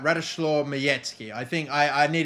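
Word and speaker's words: Majecki: have already uh taken to uh bloody uh majeski or mizeki already in this uh in this team they've come up with a giant ass typo for him i know it's pronounced miyetsky right radishlore miyetzky i think i i need to get better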